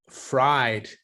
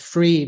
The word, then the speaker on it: Fried: of scam FTX yeah Sam bankman fried not they it's pronounced free but I think he's fried that guy uh yeah